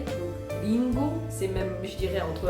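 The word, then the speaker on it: りんご: Parce que par exemple, si on prend le R en japonais, il se prononce plutôt comme un L. Donc Ringo, c'est même je dirais entre un R et un L. Ringo o taberu.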